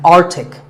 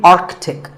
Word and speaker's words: Arctic: It's mispronounced by many as Arctic, but it's actually Arctic. The C in the middle is not silent.